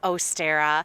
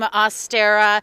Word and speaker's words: Ostara: pagan roots traditionally and if you listen to me sort of say the name ostera if you look at the word astera o-s-t-a-r-a you're going to hear and see a likeness to the word easter which if you're in